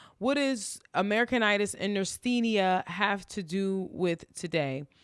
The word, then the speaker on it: neurasthenia: the name of I just looked this up nenia now that's spelled NE u r a s t e